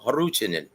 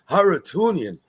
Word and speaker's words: Harutyunyan: Now, once again, you can pronounce it like the Armenians do, Harutyunyan. Or you can pronounce it like Teddy Atlas, Harutyunyan. So, it's up to you guys, whatever you prefer.